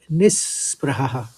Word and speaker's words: निःस्पृहः: निस, नह के बाद विसर्ग है तो स का उच्चारण निकालेंगे, नह निह नहीं कहेंगे बल्कि निस्पृह, निस्पृह।